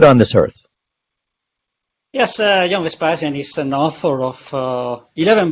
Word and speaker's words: Vespasian: I want to take this opportunity and let's welcome to the show John Vespasian. Did I say that right, John? Yes, perfect pronunciation.